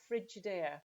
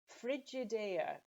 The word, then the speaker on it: Frigidaire: the final example here is a brand called frigidaire it's an american brand from from the usa and it originally was a brand of refrigerators frigidaire it's not maybe so easy to pronounce um